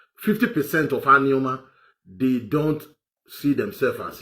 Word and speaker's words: Anioma: So what I'm trying to say to you is, Anioma people, and it's not Anioma, it's Anioma. I will teach you how to pronounce these things properly because sometimes you pronounce them and I laugh.